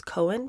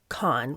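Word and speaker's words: Cohn: episode I think I I pronounced it as Cohen because I know somebody of the same spelling who pronounces it that way but somebody in the comments corrected me so it's con Roy con while Joy McCarthy and Roy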